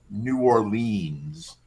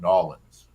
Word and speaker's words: New Orleans: flag for me was his pronunciation New Orleans when any Surfers any self-respecting person who's visited there or lived there knows that uh the locals call it Nolans I don't live there